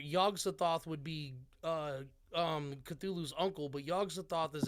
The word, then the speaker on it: Cthulhu: hell yeah yeah yeah is that how it's pronounced cthulhu yeah cthulhu okay well yeah he wrote that name so